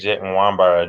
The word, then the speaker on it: Nwabara: So there's the pronunciation that's like the actual like Nigerian pronunciation, and then there's the one I tell when I meet them when I'm out.